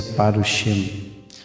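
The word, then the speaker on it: פרושים: fariseus, está no plural, aí se pronuncia parushim. Parushim, que tem um menos sufite, e aí dá o plural.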